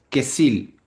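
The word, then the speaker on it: כסיל: Si este texto, la palabra necio, viene de la palabra hebrea que es que se dice o se pronuncia queil y tiene un significado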